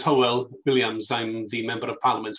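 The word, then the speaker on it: Hywel Williams: very much indeed and don't worry about my name it's been mispronounced all my life my name is howell williams i'm the member of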